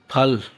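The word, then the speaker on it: 팔: सात को उसके बाद आगे ये फफ है और आ फ और ल एल फल फल कहते हैं आठ को इसके बाद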